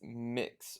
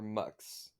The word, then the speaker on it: Mx: the poops okay so apparently it's mix or mux it's just it's mx